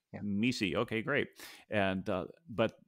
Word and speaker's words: MECE: exhaustive matrix or mece howard the right way to pronounce that mesi okay great and uh